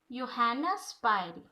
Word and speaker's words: Johanna Spyri: So this story is written by Johanna Spyri. All of you pronounce with me Johanna Spyri. Joha double again say Johanna Spyri.